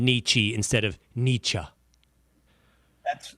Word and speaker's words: Nietzsche: I've never really known how to pronounce it. I know it. Nishi, something like that. Nietzsche. I think you can say Nietzsche.